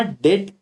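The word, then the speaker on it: debt: Unlimited का मतलब सर, जिस केस में फर्म का, याद रखना, डेट, डेट में डेट भी साइलेंट है, डेप्टर में डेप्टर नहीं, डेटर में डेप्टर नहीं बोलते अपन, वैसे डेट में ऐसे लोगोगे।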